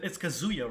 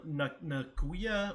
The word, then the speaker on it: Kazuya: Cruz is saying that I keep pronouncing his name wrong. Yeah, dude, me too. It's Kazuya, right? And then I call him Nakuya or Nazuya. I messed up the Nazu. K. Yeah, I always mess up the K, the Z, and the Y.